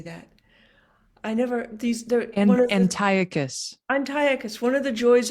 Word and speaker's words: Antiochus: Now I have to pronounce something that I will mangle. What if we're anti-locus? How should I say that? Antiochus.